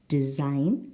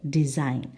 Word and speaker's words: design: syllable retire and number five design again the second syllable design so we have giraffe